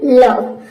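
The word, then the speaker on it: love: पे सम none done लव तो ये आपको याद रखनी है कि ये सभी ऐसे वर्ड्स है जिसमें ओ का उच्चारण अ आता है चलिए आगे देखते हैं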